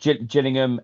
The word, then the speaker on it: Gillingham: Gillingham? Oh no, Gillingham, which is in the county Kent.